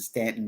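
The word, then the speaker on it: Staunton: uh ghost walks and Stanton Virginia for some of you it is spelled ston but if you are not from Virginia you will understand that if you are from Virginia in the area please pronunciated it correctly thank you this person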